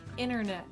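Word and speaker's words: internet: So the T in this case is silent.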